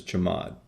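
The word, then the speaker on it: chmod: Control lists is the change mode command which I usually pronounce as chamad in the examples that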